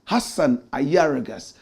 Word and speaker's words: Ayariga: And please spell it properly. Hassan Ayargas.